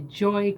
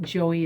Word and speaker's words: Joy: And Joe, it's not Joey, it's Joy. It's spelled like Joy, but it has two little dots.